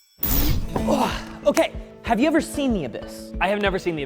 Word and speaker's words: The Abyss: Okay, have you ever seen The Abyss? I have never seen The Abyss. Well, first thing to know is that it's actually pronounced The Abbeys.